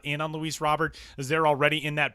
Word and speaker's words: Luis Robert: And it is pronounced Luis Robert.